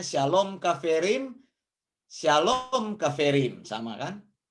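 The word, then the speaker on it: שלום: ketemu dengan kata begini dibacanya Syalom ada sin lammerts kemudian ada wow wow kemudian ada menjadi Shalom kemudian ya kita tulis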